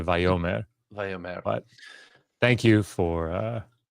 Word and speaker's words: Vayomer: Yes, we're aware that the sixth letter of the Hebrew alphabet in antiquity is pronounced like a W. Yeah, it's not really pronounced that way today. And to keep confusion to a minimum, instead of saying Wyomer, we say Vayomer.